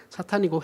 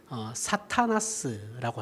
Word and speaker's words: 사탄: 자 여기에서 이제 뭐 다른 내용 일단은 뒤로 넘기고 마귀라는 단어를 생각해야 되는데, 자 마귀는 히브리어로 사탄이에요. 히브리어 발음 자체가 사탄입니다. 사탄이고 헬라어로도 그리스어로도 사탄이라고 해요. 사탄 또는 사타나스라고 합니다.